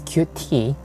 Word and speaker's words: Qt: before i start this word used to be pronounced as qt or cute whatever you pronounce this word it doesn't matter for using it but developers or cute framework they used to lead it as cute